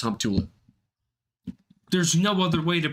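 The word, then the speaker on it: Humptulips: is not pull all up I think that's pulley up hump tool up that one actually is pronounced hump tulip there's no other way to pronounce it squim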